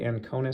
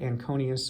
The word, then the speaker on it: Anconeus: I've heard people say Anconeus, so I think Anconeus is correct, but Anconeus I think is fine too. Either way, Anconeus might help, if you say it that way, it might help you spell it.